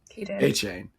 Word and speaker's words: Etienne: He changed his pronunciation. Etienne.